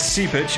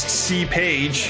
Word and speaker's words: Seepage: Well, his favorite band is Seepage, who I have been pronouncing as C-Page for some reason.